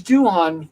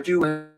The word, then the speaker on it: Doohan: James Doohan, or Doohan, depending on how you want to pronounce it.